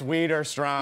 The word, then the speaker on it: Widerstrom: Please welcome Jen Widerstrom. Yes. And you said my name right. How many times can I mispronounce? You're like, all the time, you're like, it's Widerstrom.